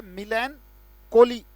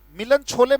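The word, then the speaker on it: melancholy: अगर नहीं सुना तो लिख लीजिएगा बेटा, मिलन, CHOLY, उच्चारण क्या है, मिलैनकॉली। ये मिलन छोले मत पढ़ लेना इसको, कहीं आपको मिलन छोले, इट्स मिलन कॉली, क्योंकि लोग उच्चारण बड़ा गलत पढ़ते हैं इसका।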